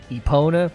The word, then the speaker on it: Epona: I'm trying to do like a Japanese version of the pronunciation, or just go with Epona, and I'm wondering if I should just go Epona because that's how the horse is always pronounced.